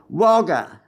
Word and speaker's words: Wagga Wagga: "Wagga Wagga," I hollered. The great city of Wagga Wagga is pronounced by the whole world except me, Wagga, just one word.